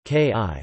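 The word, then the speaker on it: cooee: kuai and hard Yakka the former is used as a high-pitched call for attracting attention pronounced ki which travels long distances kuai is also a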